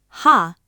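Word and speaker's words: 歯: Now two readings will feel wrong. Me is just me. Ha is just ha. One syllable each and your brain will insist a real word must be longer. Don't let it. Those are exactly right.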